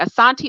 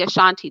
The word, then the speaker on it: Asante: is just speaking of the asante or the ashanti depending on how you want to pronounce the name okay so let's go